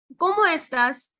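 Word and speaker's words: cómo estás: all i'm doing is i'm pronouncing each and every letter that is there and the way it goes and not eating up any letters so it is como estas como estas right that makes your pronunciations way more easier once you start pronouncing everything as it goes como estas so como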